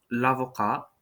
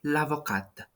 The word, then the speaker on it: l'avocat: the feminine would be l'avocate. L'avocate. You see how the pronunciation is a little bit different because the T in the first word is mute, so it is not pronounced.